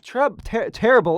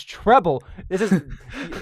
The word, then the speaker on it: treble: please go no dizzy it's not terrible it's treble I have a same table